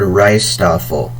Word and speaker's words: rijsttafel: For example, the word rijsttafel, which is spelled RIJSTTAFEL. Rijsttafel has that long I sound at the beginning of the word, but it's spelled IJ. So J is the silent letter in this scenario.